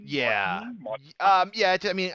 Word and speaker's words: Maarten: Mark, but is it pronounced Martin? Yeah. Martin? Yeah. I mean, obviously with a Dutch accent, it's probably gonna sound differently, but it's like the equivalent of like Miguel and Michael, in Spanish, or.